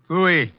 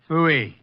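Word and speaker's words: pfui: Wolf fooy. What's that? Fooy. It can be spelled in several ways. I spell it f ui.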